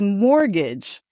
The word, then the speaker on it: mortgage: The word is mortgage. And be very careful because the T is silent.